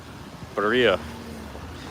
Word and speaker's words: birria: Here's the birria place, Birria Tacos.